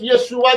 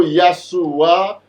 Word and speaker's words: Yeshua: Ce Jésus n'a rien à voir avec Yeshua qui était descendant de David. Son nom, c'est Yeshua, ou Yahshua, ou Yahushua, dépendamment de gens voulaient prononcer là.